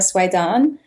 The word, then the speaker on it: Soueidan: my name is Swan this is how it's pronounced most people don't don't really know how it's pronounced because it doesn't even look like how it's written um so yeah I